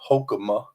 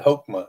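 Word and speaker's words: hokmah: meaning of the word wisdom in the Hebrew hokma hulma hulma in the Old Testament is skill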